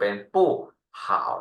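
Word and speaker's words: 不好: 3 เ่า ฉะนั้น อ่า การ ออก เสียง bu ข้าง หน้า เรา ออก เสียง เหมือน เดิม เป็น ปู้ ห่า นะ ปู้ ห่า แปล ว่า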